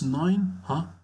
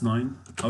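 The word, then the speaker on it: neuf heures: Comment dire it's 9? How to say it's 9? Il est 9h. And pay attention, we pronounce here this F like V.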